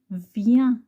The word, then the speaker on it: viens: I-E-N, c'est yen. Viens. Lien. Lien. Rien. Rien. Bien. Bien. Chien. Chien. Ça, c'est le chien. Chien. Mieux. Mieux. Lieu. Lieu. Pieux. Vieux. Alors, viens, lien, rien, bien, chien.